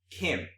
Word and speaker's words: Khim: KY KY hdall m KY h mm okay pronounced Kim but it's more like it's not like Kim